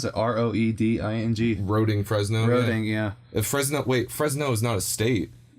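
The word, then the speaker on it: Roeding: Hi, it's me, Marcus Johnson, 8 years old from Roding, Fresno? I don't know. How would you pronounce it? R-O-E-D-I-N-G. Roding, Fresno?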